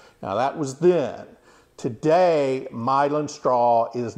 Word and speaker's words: Milan: made from myelin straw myelin is spelled like Milan Italy m-i-l-a-n but it is pronounced myelin um and myelin straw